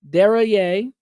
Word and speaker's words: Deraye: All right, I'm going to butcher this last name, Simone Deraye, who lived through the Islamic Revolution. I think I did pronounce it correctly. Thank you. Like derriere.